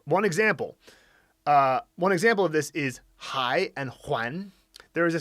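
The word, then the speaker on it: 还: Yeah, so hai can mean still, and it can, if it's pronounced huan, exact same character, it means to return, like, I'm returning a book or something.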